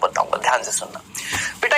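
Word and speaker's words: tsetse: टिसी टिसी नहीं, इसको हम बोलते हैं सी सी सी सी मक्खी। आप बोलेंगे सर यहाँ तो टीएससी लिखा हुआ है। बेटा टी साइलेंट है, टी साइलेंट है, अंग्रेजी में कुछ शब्द साइलेंट होते हैं।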